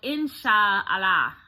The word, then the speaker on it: inshallah: was a word that they say is called insha allah in sha allah and it's spelled like i n s h a a